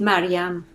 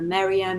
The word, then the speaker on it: Maryam: oh yeah so um in Farsi it is Maryam okay but then I answer to whatever Marianne Miriam Miriam you know depending on which country I lived in people pronounce it differently and I answer to